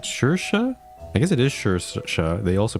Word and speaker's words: Saoirse: This is Saoirse Byrne.